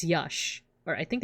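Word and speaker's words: yax: language no it's not Josh it's Yash it's pronounced Yash like like uh the X makes like a sha sound and for for the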